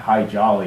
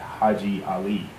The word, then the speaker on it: Haji Ali: So again, his name was not High Jolly, it was in fact Haji Ali.